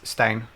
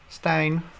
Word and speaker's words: Stijn: So the IJ in Dutch is just a vowel. It's the same vowel we use for the EI spelling. So it's, yeah, it's Stijn. Stijn.